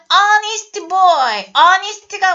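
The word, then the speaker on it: honest: 뭐 있냐 명사판에서 나왔어요 h 발음이 뭐야 묵음이 형태 소리가 안 나 그렇기 때문에 예나 모음으로 시작하네 하고 치부하고 어니스트가 뭐냐면 정직한 여기서 정직한이란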